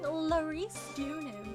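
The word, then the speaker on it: Laurice Deauxnim: Being Larice Dunham is like big fancy.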